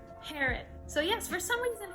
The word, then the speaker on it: Herod: according to google translate it is pronounced herod so yes for some